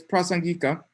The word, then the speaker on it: Prasangika: it wrong okay sorry i forget how to pronounce it wrong um anyway it's prasan gika and the tibetan way to say that is